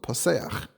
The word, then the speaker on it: Paseach: And in fact, in Tanakh, we do find a name that's spelled Pei Samach Ches in Nehemiah, but there it's with the nikud Paseach.